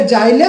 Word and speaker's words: xylem: এবার জটিল স্থায়ী কলা আবার দু রকমের হয়, একটা জাইলেম, একটা ফ্লোয়েম। আচ্ছা, জাইলেমের বানানটা দেখে নাও, ইংরেজি বানানটা XYLEM, ইজি নয়, মানে জি বা জের নয়, XYLEM। ঠিক আছে, জাইলেম। তো জাইলেম আবার কি হয়, চার ধরনের কোষ দ্বারা গঠিত।